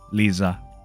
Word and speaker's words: Liisa: And not going to lie, you're the first person who pronounced my name the right way. Liisa. Uh, this comes with a Finnish accent.